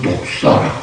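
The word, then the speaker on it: δόξα: 영광이라고 했어요 그 영광 영광은 헬라어로는 독사 그래요 발음은 한국말로는 안 좋습니다 독사 히브리어 키나라 하는데 영광이라는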